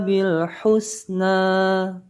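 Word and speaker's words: بالحسنى: Hati-hati pada bacaan lam yang diberi sukun atau lam yang bersukun. Nanti ketika menyebutnya atau membacanya tidak boleh sampai dibaca pantul.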